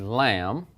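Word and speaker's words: لام: The name of the letter is Laam, like a sheep, but it makes the sound of L. Same sound at the beginning, as in English, okay, as in light, learn, long, an L sound.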